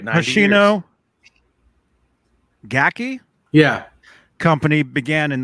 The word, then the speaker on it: Hoshino: But how do you pronounce his name? Hoshino? Dave was exactly right. 90 Hoshino Gaki Yeah.